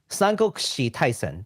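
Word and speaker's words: Taisen: the uh Sango Kushi uh Tyson IP it's Tyson there you go that was a terrible pronunciation earlier which is a job uh let's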